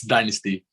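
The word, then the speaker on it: Dynastie: So how do you pronounce her name, Mr. Rodriguez? It's Dynasty.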